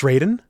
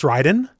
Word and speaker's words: Raiden: So, in Mortal Kombat, it's Raiden. In Metal Gear, it's Ryden. In Fatal Fury, it's Ryden. There you go. Easy, easy to remember. Three people the same names, all spelled the same, all pronounced differently.